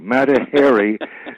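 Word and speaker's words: Mata Hari: Matahary, you know, pronounced Harry because chimpanzees are hairy.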